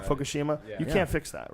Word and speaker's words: Fukushima: Fukushima.